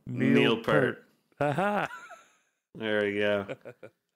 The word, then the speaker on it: Peart: Like I'm like, no, it's Neil Peart. I mean, you could. I'm sure maybe he like hated it too, but everyone on the planet pronounces it Pert, so you might as well just get Yeah, used to it.